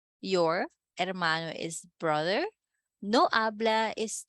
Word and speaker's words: habla: your example sentence your hermano is brother no habla is not speak do not talk mucho much